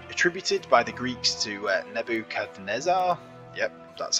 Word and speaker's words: Nebuchadnezzar: Gardens were attributed by the Greeks to Nebuchadnezzar. Yep, that's how it's pronounced.